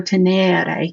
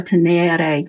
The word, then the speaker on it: tenere: Whereas a second conjugation verb like teneo, teneo, tenere, you're going to lengthen an accent, the E in the E-R-E. So the pronunciation is different. Teneo, tenere versus mito, mitary.